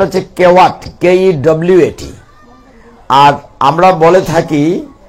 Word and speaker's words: Kewat: আপনারা শুনেছেন কিনা, গুগলে চার্জ করলে বানানটা হচ্ছে কেওয়াট, KEWAT। আর আমরা বলে থাকি একজন মাঝির নাম, তিনি হচ্ছেন শাস্ত্রের ভাষায় বলা হয় কিবট মাঝি, ডব্লিউ কে বব উচ্চারণ করে আর কি, কিন্তু গুগলে KEWAT কেওয়াট বলা হচ্ছে।